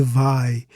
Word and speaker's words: vai: Just one syllable, so it's an oxytone word, stressed on the last syllable. But vai is a diphthong, two vowels in a single syllable. The I here acts as a glide. So the stress falls on the first vowel, the A.